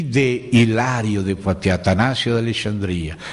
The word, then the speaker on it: Poitiers: Ao mesmo tempo, outro irmão nas Gálias, numa cidade chamada Poitiers, se escreve Poitiers, se pronuncia Poitiers.